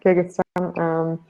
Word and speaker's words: Kyrgyzstan: I know there's already somebody for, now I need to see if I can pronounce it correctly, Kyrgyzstan? Is that how you say it? Yeah, Kyrgyzstan.